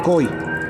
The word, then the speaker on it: koi: g pero se pronuncia coi coi es una mezcla no entre fonemas entre la g y la k coi bueno eh la